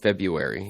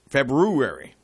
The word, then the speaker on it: February: by feu February Fe February February mhm mhm the correct way to pronounce it that's the way it's spelled febu February yeah so no worries